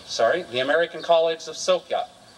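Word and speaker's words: Sofia: the American College of sopia it's not Sophia even though it's spelled that way as my students reminded me sopia Mr coring the American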